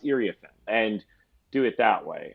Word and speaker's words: Iriafen: Or in the case of Kiki, who we all thought was Iriafen, and then we realized it's Iriafen. To be able to say, hey, Kiki made clear before the start of the season, it's actually pronounced Iriafen.